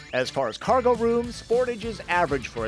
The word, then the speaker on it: Sportage: And yes, you folks in Canada think I'm pronouncing the name wrong, but we call it Sportage in the US, not Sportage.